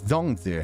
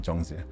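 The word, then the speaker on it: 粽子: I think somebody put an H after the Z, and I know ZH is pronounced with a J rather than a Z. But it's Zongzi, not Zhongzi. Sorry, okay.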